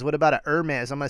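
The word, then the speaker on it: Hermès: rowana in the house he says what about an Hermes I'm gonna say it right this time emetics atom exploits her maze messenger bag how about it I haven't seen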